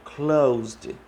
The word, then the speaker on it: closed: Então, closed é pronunciado com som de D no final, closed, ok?